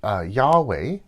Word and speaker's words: Yahweh: And we see this even in God's name, which we think is pronounced Yahweh, although we don't really know because the ancient Hebrew people didn't write down vowels, only consonants.